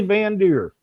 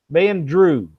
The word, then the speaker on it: Van Drew: It's Leslie Van Drew is how she told me that they pronounced it.